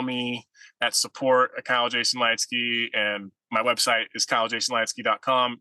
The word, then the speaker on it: Leitzke: of my stuff's all my name Kyle Jason light ski so put it I'm sure you'll put in